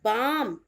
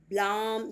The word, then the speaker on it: balm: Next word is बाम, BALM, बाम, L silent है। ब्लाम या बाल में नहीं होगा, इट्स अ बाम, क्लियर।